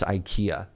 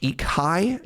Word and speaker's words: IKEA: It's not even pronounced IKEA. Uh, Serge, it's pronounced Eekai.